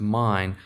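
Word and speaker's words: מין: It's 4327, which I believe is pronounced mine.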